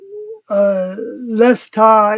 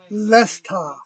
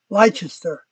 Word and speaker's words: Leicester: Frost Dragon says, Lesta is the local pronunciation of Leicester. Lesta. Lesta. Instead of, like I would say it as Leicester. Leicester.